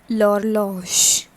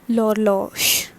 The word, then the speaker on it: l'horloge: L'horloge. So in French, one thing there is to be noticed, that H is usually not pronounced and the next word, next alphabet along with the H is pronounced.